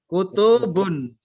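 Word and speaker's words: كُتُبٌ: Kutubun. Tapi tidak panjang. Kalau saya baca tadi panjang salah.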